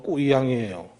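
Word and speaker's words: 贵阳: 거기 중국어로 되어 있는데 귀양, 귀주성의 귀양, 귀양이라는 도시인데 그게 중국 발음으로 꾸이양이에요.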